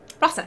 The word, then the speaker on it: Rasa: Rasa? Rasa, yeah.